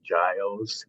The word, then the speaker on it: Giles: disclaimers the first disclaimer my last name is Giles with the soft G and I am the